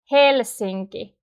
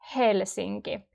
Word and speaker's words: Helsinki: Helsinki. We always pronounce the H. Like when you're breathing out, it's that sound. Helsinki. Not so strong, but still you can hear it.